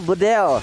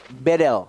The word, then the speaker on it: Bedel: mahasiswa Turki, dia bilang, Bang Kornet bacanya bukan Bedel, Jadi? tapi E-nya dibaca semuanya E. Jadi Bedel.